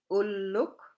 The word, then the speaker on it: ulluk: The double L sound. It's important to watch for single and double consonants to pronounce them correctly. We will get more into detail on this later on. Like ulluk and illuk.